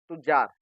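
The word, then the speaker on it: تجار: इसका right pronounce क्या है? तुज्जार।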